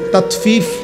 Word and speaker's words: তাতফিফ: তহলে তাতফিফ এ কথাটা বুঝা দরকার। এটা একটা গুরুত্বপূর্ণ বিষয়। তাতফিফ শব্দের অর্থ হল তাতফিফ। বাংলা শব্দটা বুঝছিনি উচ্চারণটা। ত আকার তা তত ফ দীর্ঘিকার ফি ফিফ তাত ফিফ।